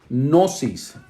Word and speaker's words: gnosis: griega para ciencia es un poquito difícil de pronunciar gnosis con g lleva lage edad pero este es